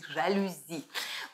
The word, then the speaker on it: жалюзи: И, кстати, кто не знает, как ставится правильное ударение, то ударение ставится на и жалюзи.